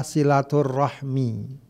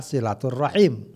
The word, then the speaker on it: silaturahim: ee suka diperdebatkan ya yang benar silaturahim atau silaturahmi Kalau mengikuti ejaan bahasa Arab memang yang benar adalah silaturahim ya tapi masalahnya kalimat ini sudah menjadi bahasa Indonesia ya Yang yang apa